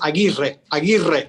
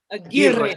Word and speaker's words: Aguirre: It's Basque. It's from it's Aguirre with the Aguirre. Aguirre. You need a Yes. whole lot of breath for that. A lot of breath and long tongue. Aguirre.